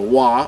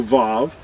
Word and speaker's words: Vav: it in modern Hebrew this letter is referred to as a wah or a VAV but in ancient Hebrew there was no V or W sound it was it was a ooh sound we're going to prove